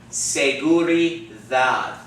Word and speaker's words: seguridad: Seguridad. Dad. You got that? Seguridad. Not seguridad. Seguridad. Seguridad. You got that? So the D sounds like the TH in the word the, okay?